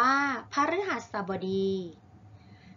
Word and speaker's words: พฤหัสบดี: ออก ทาง ร่าง กาย วัน พฤหัสบดี อ่าน ว่า พฤหัสบดี หมาย ถึง เป็น ลำดับ วัน ที่ 5 ใน